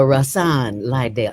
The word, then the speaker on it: Rahsaan Liddell: My brother, brother Rasan Lidell. Am I pronouncing that right?